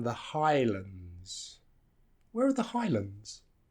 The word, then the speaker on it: Highlands: called The Highlands and notice it's not Highlands because the second part is reduced Highlands England Scotland Iceland so that second syllable is reduced so it's not land it becomes lond so the government have